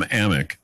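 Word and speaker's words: Amick: you Sam aiming but he's been mispronouncing his name so it's Sam ammok USA Today NBA insider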